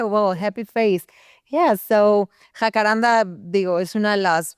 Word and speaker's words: Jacaranda: Jacaranda.